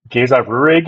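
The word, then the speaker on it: Géza Röhrig: So I have trouble pronouncing his name. Very good actor, Geza Rurig. Is that Yeah. how we pronounce his name? Yeah.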